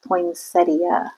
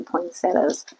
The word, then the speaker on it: poinsettia: I think it's supposed to be poinsettia, but most people say poinsettas.